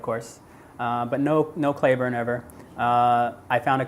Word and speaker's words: Clayburn: and everybody call Clay people Mis mispronounce it they'll call me Clayborne they misspell it a lot people try to overthink it I mean it's just two four-letter words clay burn should be very simple but it's always like